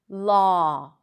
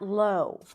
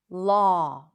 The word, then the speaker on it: law: and we but actually there is no w sound. It just represents the exact same sound law not low law.